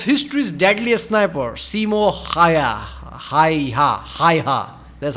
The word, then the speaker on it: Häyhä: Häyhä.